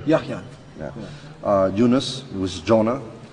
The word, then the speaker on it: Yahya: Yahya. Yahya.